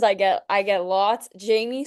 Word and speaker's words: Jaime: Jamie. Okay. It's not a dumb question cuz I get I get lots. Jamie is the full and both of them get pronounced wrong all the time.